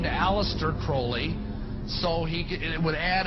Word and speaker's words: Crowley: learned about was aliser Crawley he likes to have his name pronounced Crowley to rhyme with holy and uh these satanists